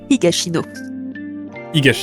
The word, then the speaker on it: Higashino: En tout cas, voilà, les miracles du bazar Namiya de Keigo Higashino, si je prononce bien. Higashino, exactement. Exactement, voilà, donc le 3e livre.